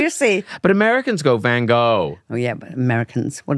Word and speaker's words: Van Gogh: No, it was the one where Van Gogh came back to life.